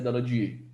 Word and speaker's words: Daladier: Escreve Daladier, pronuncia Daladier.